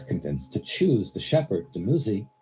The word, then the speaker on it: Dumuzi: Here, Inanna is convinced to choose the shepherd, Dumuzi, sometimes pronounced Dumuzid, over the farmer.